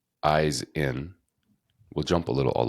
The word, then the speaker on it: Ihsan: comes to me and he says I got it eyes in and I was like oh my God that's the first time you had heard that yes whoa like that's